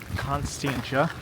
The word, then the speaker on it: Constantia: We figured out that it's pronounced Constantia. And we are here now with a little bit of broken umbrella. And it's still raining. But I think this says Constant Groot or Groot Constantia.